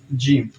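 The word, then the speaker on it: ج: again look at me it's g like gem you know like gem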